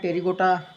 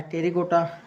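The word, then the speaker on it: Pterygota: इसके आर्डर मतलब गण की बात करते हैं तो आर्डर में आते हैं टेरिगोटा, पी साइलेंट रहता है टेरिगोटा।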